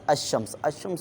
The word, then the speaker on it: الشمس: میں نہیں آئے گا۔ جیسے الشمس میں دیکھیں الف اور لام لکھا ہوا ہے، لیکن یہاں پر صرف حمزے کا تلفظ ہو رہا ہے اور اس کے بعد میں لام کو شین میں ملا دیا گیا۔ لام صرف لکھنے میں